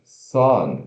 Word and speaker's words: son: Próxima palavra, son, significa filho. S-O-N, som, né? Mas se pronuncia S-O relaxado N.